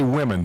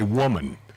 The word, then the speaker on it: women: the plural of women they will never say women they say woman when they're supposed to